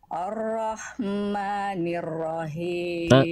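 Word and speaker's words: الرحمن الرحيم: Ya lanjut Masyaallah arrahmanirrahim himnya Kurang h kecil kasrahnya harus sama ee kadar berbisiknya dengan H kecil sukunnya arrahmanirrahim coba grogi e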